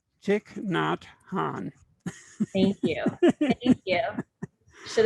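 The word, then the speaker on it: Thich Nhat Hanh: richard i should have asked you how to pronounce this name chick not han thank you thank you should have rehearsed that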